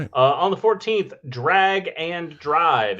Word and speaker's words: Drag X Drive: Uh on the 14th, Drag and Drive. It's It's written Drag X Drive, but it is pronounced Drag and Drive apparently.